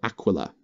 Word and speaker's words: Aquila: even as a lord commissar covs Aila or Aquila depending on how you like to pronounce it the officer and all friendly units